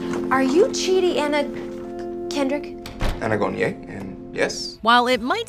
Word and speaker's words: Anagonye: Anaconda. Anagonye. Aganocomungo. Anagonye. Say it again? Anagonye. No, say what you said before. I did. It's Anagonye.